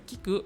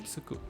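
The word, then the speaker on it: 着く: Tapi kalau dia belakangnya ku, bukan dibaca kiku, tapi dibaca sebagai tsuku, tiba.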